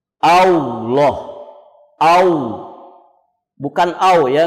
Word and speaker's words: Allah: sukun omgyes di W A llah kau bukan kau ya enggak ada huruf wau disitu yang ada huruf lam lam yang ditebalkan allah' jadi tidak ada huruf